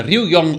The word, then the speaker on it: Ryugyong: Il Ryugyong Hotel, così si pronuncia, che in nordcoreano significa